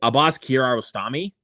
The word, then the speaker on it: Abbas Kiarostami: I remember to pronounce the filmmaker's name correctly. Abbas Kiarostami.